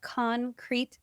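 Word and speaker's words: Concrēt: For those who are listening, it's spelled c-o-n-c-r-e-t and the e has a macron or a little line over the top, so you know it's CON-CRET and not CON-CRET.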